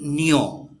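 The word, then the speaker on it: niño: ए की जो आवाज नी होती है नी नियो नीयो का मतलब बच्चा नीन का मतलब यानी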